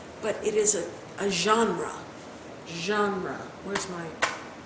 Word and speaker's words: genre: but it is a genre. Where's my... Genre is spelled G-E-N-R-E, and it's pronounced genre.